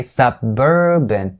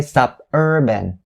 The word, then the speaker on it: suburban: first one is urban make sure for the second syllable you have the b south to start it you say suburban you don't say suburban all right so suburban